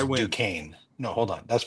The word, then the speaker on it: Duquesne: Duquesne, Pennsylvania, Yeah. and it looks Duquesne. close is it? Closer than Also, just I don't mean to correct you, but He's that's the judge. I pronounced win. Duquesne.